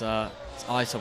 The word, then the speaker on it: Isom: Oh, no, sorry, it's not Issom, is it? It's Isom. I got told how to pronounce that the other day.